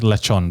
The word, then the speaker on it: lechon: Now, lechon, on the other hand, that's not an everyday item. Yeah. Pronounced lechon, by the way.